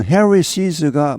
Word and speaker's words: Harris's: 여기 발음은 Harris's가 맞습니다.